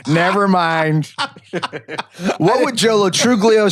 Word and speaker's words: Truglio: mind what would YOLO truglio say what would Jolo trulio say oh first of all it says I'd like to clarify that the g is silent second of all do we